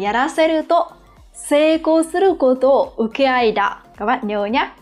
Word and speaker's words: 請け合い: Chúng ta có chữ thỉnh và chữ hợp, và từ này chúng ta sẽ đọc là ukeai.